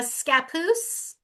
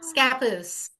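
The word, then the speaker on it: Scappoose: Uh, Scapus. Scapus. Yeah. No, it's an Indian name like so many things. So, think Papoose. Oh, my baby papoose. Scapus.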